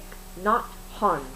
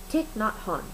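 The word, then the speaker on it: Thich Nhat Hanh: I know I know I learned how to pronounce it I did take tick not hon tick not hon that is how you pronounce his name this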